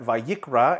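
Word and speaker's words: וַיִּקְרָא: We pronounce that vayikra, and that means, and he will be called, or he will call.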